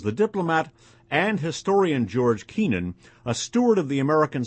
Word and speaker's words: Kennan: A notable prophet for a coming age of smallness was the diplomat and historian George Kennan, a steward of the American century with an uncanny ability to see past the seemingly frozen geopolitical arrangements of the day.